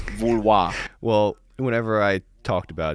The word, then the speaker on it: Vouloir: It's not pronounced Voliere? No, it's not Voliere, it's Vouloir.